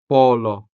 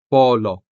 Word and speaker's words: polo: These words are spelled with the letter o, and this o is sounded with the vowel o. The first word here is polo or a collared shirt. polo Next, corazón corazón to mean heart.